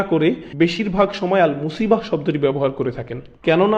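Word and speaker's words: مصيبة: এরপর আবার শব্দটি শেষে রয়েছে তা মারবুতা, যে জন্য আমরা মুসিবাহ উচ্চারণ করি, মুসিব না কিন্তু।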